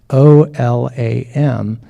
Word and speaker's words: Olam: So God, and then El, and then Olam, O-L-A-M. But to pronounce, when they did the pronunciation out, they put the W in there to help us.